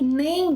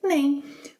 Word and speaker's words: nem: Well, so say the word name, but stop a little before you close your lips, a little before making the M sound.